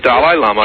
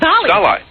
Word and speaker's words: Dalai Lama: Is that how you say it, Dalai? I thought it was Dolly. Dolly. No, Dalai. No, it's Dalai Lama.